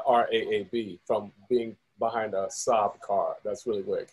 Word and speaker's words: Saab: And I was like, hey, man, how do you pronounce that car name? He was like, Saab.